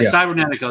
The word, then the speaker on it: Cybernetico: Yeah, Cybernetico. That's how you say his name.